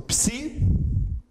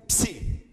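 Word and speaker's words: ψῖ: E aí faltam duas letras apenas, que são o Psi, como em psicologia. Ok? Você pode, a serifa também não é necessária no maiúsculo, pode simplesmente fazer assim, mas é que a questão é que fica muito parecido com o Psi minúsculo. Tá? Então eu recomendo sempre que use aqui. O som dele é sempre Psi. Psi. É uma letra que tem um som duplo.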